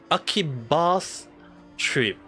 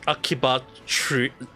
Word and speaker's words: Akiba's Trip: It's called Akiba's Trip. Or for some reason, it also can pronounce as Akiba Trip.